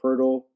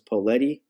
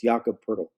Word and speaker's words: Poeltl: And if you don't know who I'm talking about, it looks like his name is Poletti, but it's pronounced Poeltl. It's Jakob Poeltl.